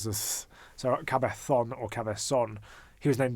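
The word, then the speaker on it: Cabezón: Or El Cabezon, or El Cabe. See, in Spanish they pronounce their Z's as S's, or in Argentinian Spanish they pronounce their Z's as S's. In Spanish they pronounce this. So Cabezon or Cabezon.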